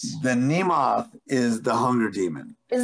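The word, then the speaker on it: Mnemoth: it i would say name moth it's m-n-e-m-o-t-h so it's like a demonic nemo i feel like the first m is silent the nemoth is the hunger demon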